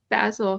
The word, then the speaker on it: Basil: you say it Alex I said it basil because that's the British pronunciation and well I mean